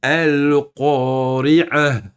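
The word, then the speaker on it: القارعة: Si on s'arrête, on le prononce comme un ha. Donc ici, si toi tu stoppes, hein, tu t'arrêtes, tu fais une pause entre chaque verset. Tu vas dire ici al-qari'ah. Vous avez entendu? Vous le prononcez ha avec une soukoun.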